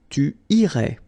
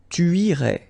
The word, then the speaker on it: tu irais: Tu irais. Same thing here, final S not pronounced.